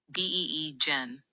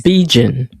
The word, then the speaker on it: Bigen: You pronounce the hair dye Bigen as Bee-Gen. Think of it as rhyming with vegan or lion. The first part is B, and the second is gen with a firm G.